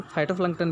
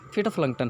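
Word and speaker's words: phytoplankton: Take the microscopic फिटोप्लैंक्टन, आपका इसको pronunciation फाइटोप्लैंक्टन भी करेंगे, एक्चुअल इसका फिटोप्लैंक्टन है, जिसको समुद्री शैवाल कहते हैं।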